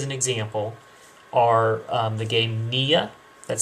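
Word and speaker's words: Niya: A couple of games, just as an example, are the game Nia, that's spelled N-I-Y-A, and the game Spyfall.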